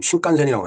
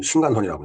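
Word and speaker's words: 신칸센: 그때 이제 일본을 감고서 신간선 이제 지금 신간센이라고 하지만 그때 신간선이라고 이제 우리말로 발음을 했습니다 을 타봤는데 정말 빠르더라고요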